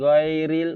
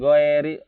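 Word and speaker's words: غير: iril gitu ya bacanya lauriel kan ghairil bukan go RI hati-hati dengan huruf ini iwai biasanya orang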